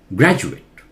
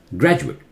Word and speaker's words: graduate: Here also, Ju. Graduate. Graduate.